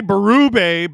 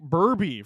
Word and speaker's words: Berube: You say Berube better than some of my family who say it like Burby for some reason.